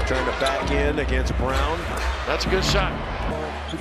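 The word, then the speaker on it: Braun: in transition which lead to open three-pointers is brown whose name is spelled Brawn but pronounced Brown Jay does not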